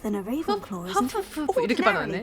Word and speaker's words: Hufflepuff: 허프푸프 이렇게 Ordinarily, 발음하네. perhaps. 후플푸프가 But it 아니라 runs in my 허프푸프 family.